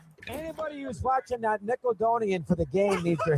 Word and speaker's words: Nickelodeon: So that that's him mispronouncing Nickelodeon and saying Nickeloonian.